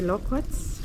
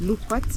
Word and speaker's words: loquats: So I I'll need maybe to climb up and harvest the loquats, lukewarts, depending on how you pronounce it.